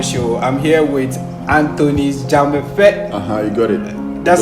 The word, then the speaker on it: Dzamefe: I'm here with Anthony's Dzamefe. You got it. That's how you pronounce Dzamefe, it. yeah, that's Dzamefe.